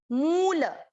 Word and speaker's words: मूल: Same यहीं पे मूल, मुंह की मात्रा, म की मात्रा बड़ी है ना, मूल, ल पूरा इसलिए ल में अ मिक्स कर दिया।